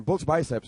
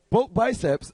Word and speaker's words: Bulk Biceps: Bulge biceps, right? Is it bulge biceps or butch? Bulk biceps.